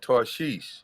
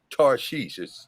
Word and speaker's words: Tarshish: Strong's H8659 Tarshish or Tarshish. That's how it's pronounced.